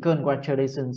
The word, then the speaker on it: congratulations: Congra, đừng đọc là con nhá. Congra là sai. Congratulations. Congratulations, congratulations. Hey, congratulations on winning the essay contest.